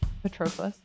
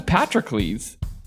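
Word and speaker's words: Patroclus: You is it pronounced Petroas? Petroas. Yeah. What? Today he learned. Today he learned. I thought it was Patrick Clees. That's how I've always heard it.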